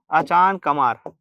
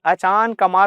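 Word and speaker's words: अचानकमार: यहाँ हमारा अभियान मिल जाएगा अचान कमार। क्या मिल जाएगा? अचान कमार। मुंगेली में क्या मिल गया हमको? अचान कमार। यार प्रोनाउंसिएशन अच्छे से करना, ठीक है। अचान कमार होता है, अचानक मार नहीं होता।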